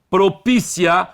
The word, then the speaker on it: propícia: Então, propícia, a sílaba tônica é anterior, acento obrigatório.